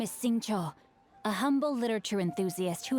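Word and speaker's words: Xingqiu: leash where are my manners my name is sing Cho a humble literature Enthusiast who happened to be passing by sing Cho sing Cho I have been pronouncing that sing sing Singa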